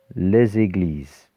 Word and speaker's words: les églises: of the equal sign, but when we pronounce it, we pronounce a little z in front of the e. Les églises.